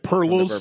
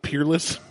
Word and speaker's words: Peerless: this so we're talking words they mispronounced we're talking about blanton's gold like the blanton's gold episode like pearls instead of peerless yeah perlis i'm like